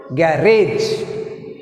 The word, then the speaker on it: garage: Next word garage, garage, garage. Rage is second syllable. Put stress mark on second syllable R.